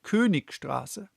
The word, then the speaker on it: Königstraße: Like, I pronounced the name of the street where the professor lives the German way. I said Königstraße.